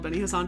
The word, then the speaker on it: Beni Hassan: It's so funny that that area is called Beni Hassan because it's absolutely It's spelled B E N I, but it literally sounds like a guy's name. It sounds like an Egyptian guy's name.